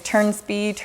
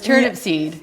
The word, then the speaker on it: Turnipseed: to Turnipseed which it's it's everybody gets that name you know pronounce different ways turns beat Oh see oh that's the only part you know that I got right was Turnipseed yes yes so that